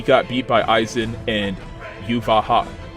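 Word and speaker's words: Yhwach: He got beat by Aizen and Yuvaha. Or I should say Yuha-Vak.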